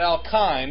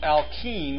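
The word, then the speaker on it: alkene: this what chemical group is present here not alkine it's pronounced alken with an now here's where it gets a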